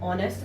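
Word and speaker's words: honest: यहां पर एच जो है वो ह की साउंड नहीं दे रहा है, एच क्या है यहाँ पर, साइलेंट है, और ये किसकी साउंड दे रहा है, ओ की, ऑनेस्ट, ऑनरेबल।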